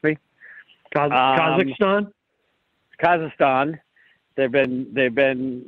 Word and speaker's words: Kazakhstan: mean they're going to cost erstan I'm not pronouncing it right you'll correct me Kazakhstan Kazakhstan they've been they've been running there I